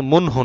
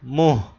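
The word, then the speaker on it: منہ: দিকে মুখকে মুখ করে এটা কিন্তু মুনহু না আবার মুহ নুনটা উচ্চারণ হবে না কিন্তু নাকে যাবে গুন্না মুহকারকে মুখ করে খারে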